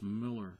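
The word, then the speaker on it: Millar: not Mar Mark Miller it's pronounced Miller just like the beer even though it's spelled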